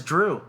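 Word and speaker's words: Dru: Okay, according to the comics, General Zod's first name is Drew. Yeah. Did you know that? Yeah. But it's spelled D-R-U.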